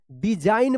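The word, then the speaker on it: design: एन से पहले जी है तो जी साइलेंट रहेगा। डिजाइन पढ़ेंगे।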